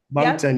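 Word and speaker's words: Moncton: mton M monton how do you say it monton yeah that's where we live that's where you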